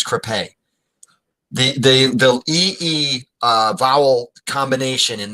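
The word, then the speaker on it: crêpe: It's pronounced crepe. Okay. I don't. I'm sorry. I mean, Sophia. It's pronounced crepe. It's French.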